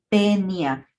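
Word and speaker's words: Taenia: Lo mismo sucede con el diptongo AE, hay 2 vocales, vamos a suprimir el sonido de la vocal diferente a la E y entonces vamos a pronunciar a este género como tenia.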